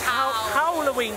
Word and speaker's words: Howl-O-ween: The same Halloween really works. No, that's how they say it. It's Howl-O-ween, because it's got a zoo.